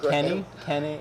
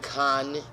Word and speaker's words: Kanye: Kanye, He keeps saying it wrong. Kenny. Hi, say it again. Kanye. There's a Y.